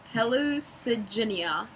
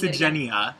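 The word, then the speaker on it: Hallucigenia: Helucenia. Not really. Hallucenia. There you go. We'll go with Hallucenia.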